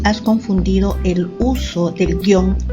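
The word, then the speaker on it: guion: tilde o sin tilde esta palabra tiene doble grafía porque se articula de dos formas algunas personas pronuncian guión y otras pronuncian en dos sílabas y dicen guión pero después de la edición del 2010 de la rae se suprime dicha opción es decir la segunda guión porque se considera que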